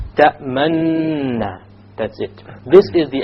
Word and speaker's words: تأمننا: You show your lips moving to be a dhamma, but you make no pronunciation. تأمننا.